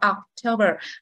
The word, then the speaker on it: October: châ bò đúng không cái từ này Mình đọc là October rồi tháng 11 november november và The Last